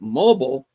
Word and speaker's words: Mobile: Sarah says something about catching Gabriel Singer in Mobile, Alabama. She pronounces it mobile, but as every Southerner knows, it's pronounced Mobile.